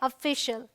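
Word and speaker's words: official: special अब यहां देखिए ओ एफ एफ आई सी आई ए एल तो सी आई ए है तो ये है शल सो सी आई ए एल होगा तो उसे हम शल करके पढ़ेंगे ऐसे भी आप याद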